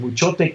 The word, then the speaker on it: Muchote: That's how you pronounce it, Muchote, with the accent on the E.